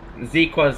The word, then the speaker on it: Zeaqua: Yeah, so Zeaqua. That's how you pronounce Zeaqua's name. It's Zeaqua.